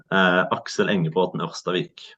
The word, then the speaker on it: Aksel Engebråten Orstavik: Aksel Engebråten Orstavik.